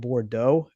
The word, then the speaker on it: Bordeaux: it sound French because like in French you would say like AUX would make the O sound. So like for instance, like there's a part of France called Bordeaux and it's spelled BORDEAUX.